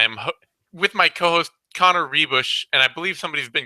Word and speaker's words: Ruebusch: with my co-host Connor rebush and I believe somebody's been giving me some for mispronouncing your last name as rubush if I if I